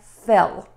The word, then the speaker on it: fill: And a big tip here is make sure you say the L sound distinctly at the end of these words by touching the tip of your tongue to the back of your top front teeth.